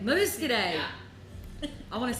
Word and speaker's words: Muscadet: no, Muscadet. Muscadet.